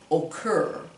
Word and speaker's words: occur: And these ones that the emphasis on the second syllable, we don't say refer, we say refer, occur.